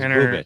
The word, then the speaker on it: Bubic: It's pronounced Bubich. I thought it was Bubich.